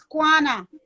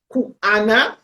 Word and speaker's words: Kwana: The name is Kwana. Kwana, see? Because I pronounce it as Kuana or Kiwana.